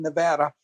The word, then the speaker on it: Nevada: and I'm going to pronounce the name of the state correctly which is Nevada I wasn't going to